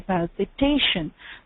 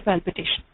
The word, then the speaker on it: palpitation: are tense so uh the stress is on the um second last syllable there so we say palpitation uh where is what most of us Indians would do is we would just say palpitation we say the whole